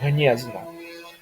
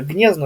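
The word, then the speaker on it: Gniezno: г, а г, да, то есть как слове гнезно.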